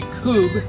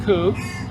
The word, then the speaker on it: Kubb: demonstration of pub uh actually kube i've been corrected how it's pronounced coup and we have a